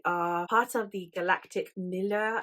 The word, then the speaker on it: milieu: We also have it where we are part of the galactic milieu. I keep saying it wrong and people keep having a go at me in videos. I'm really sorry. Milieu.